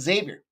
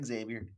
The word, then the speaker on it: Xavier: hear it once to realize it's Xavier not Xavier Xavier so that's betting lesson